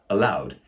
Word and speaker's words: allowed: For example, he read the letter to me aloud, which is the exact same pronunciation as the word allowed, A-L-L-O-W-E-D.